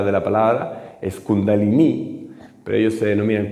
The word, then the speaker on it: kundalini: se llama kundalini mal pronunciado incluso porque la pronuncia de la palabra es kundalini Pero ellos se denominan kundalini que utilizan el yoga como una forma de